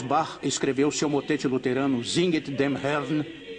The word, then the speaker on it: Singet: Então, no coro 2, ele começa com a palavra Singet, 2 sílabas. Singet, singet.